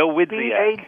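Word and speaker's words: Dawidziak: It's phonetic. It's just got a lot more syllables. The Wizziak.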